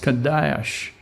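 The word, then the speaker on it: קדוש: H 69-42 it's spelled QA da H and pronounced Kadosh in Hebrew it means to a point it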